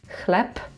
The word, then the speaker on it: chleb: For example "chleb" because "b" is at the end of the word we say [p].